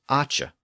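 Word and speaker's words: æce: But the noun form was acha.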